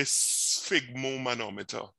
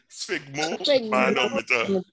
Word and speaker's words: sphygmomanometer: So it's like a fig with a S sound. So you say sphygmomanometer, right? Let me hear you say it. Sphygmomanometer.